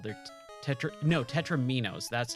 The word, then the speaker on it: tetromino: Tetris pieces are actually called they Tetra no tetraminos that's how you pronounce it I've always had a really hard